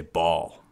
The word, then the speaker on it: Baal: say it different ways I'll say it baale or some people might say ball either way it's spelled